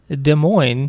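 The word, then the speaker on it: Des Moines: de Mo yeah so maybe it's de plain I don't know that's my guess that would be my guess just based on De Mo the SS silent this is our silent get those s's out of here we don't want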